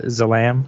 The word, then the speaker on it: Zalam: It's the I always pronounce it Zalam because it's Zalam.